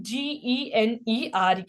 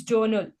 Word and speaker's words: journal: C this is what this is a mistake it's not gener okay it's Journal joural yeah like it will be like pronounced as like this uh j o u r n l but see the uh writing is different okay by this you